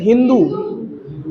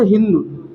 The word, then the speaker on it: हिंदू: तो फारस के लोग यहाँ आते थे और ये लोग सिंधु को सिंधु नहीं कह पाते थे, क्या कहते थे? हिंदू। सा की जगह वो हा का प्रोनाउंसिएशन करते थे। जैसे सिंधु शब्द है तो सिंधु शब्द में सा आता है, तो सा की जगह इसको करते थे हिंदू, हिंदू कर देते थे।